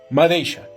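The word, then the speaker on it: madeixa: La X se pronuncia como una sh, como por ejemplo la palabra madeisha, que significa madeja.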